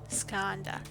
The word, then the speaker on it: Skanda: app on your phone skanda that's how you pronounce it see i knew i